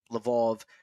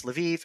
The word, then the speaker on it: Lviv: out of Lvov, and we will be calling the city that is Lvov Lvov because that's how it's pronounced in Russian. That indicates our perspective. The Russians get it from the Polish pronunciation, which, while it looks like it's spelt in English, Lwów, is actually in Polish pronounced Lvov. Uh, in Ukrainian, it's Lviv, and in German, it's Lemberg.